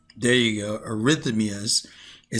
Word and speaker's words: arrhythmias: Arrhythmias. There you go. Arihythmias.